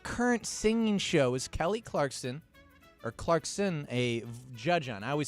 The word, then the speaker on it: Clarkson: Now, what current singing show is Kelly Clarkson a judge on? I always say her last name wrong. I always say Clarkston.